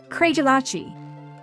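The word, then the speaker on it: Craigellachie: Professor, this Speyside distillery is pronounced, “CRAY-jell-AH-chee.” “CRAY-jell-AH-chee?”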